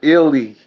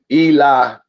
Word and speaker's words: Ealy: It's pronounced Ealy. I go through that all the time, man. Don't worry about it. It's Ealy. A lot of people pronounce it Eli, but it's pronounced Ealy.